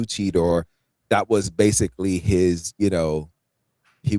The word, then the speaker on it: Cheetor: Derek, if I may make a correction here as a new Beast Wars fan here, I believe it's pronounced cheater.